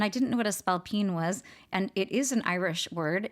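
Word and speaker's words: spailpín: a spine and I didn't know what a spell Pine was and it is an Irish word in Irish you spell it s p a i l p i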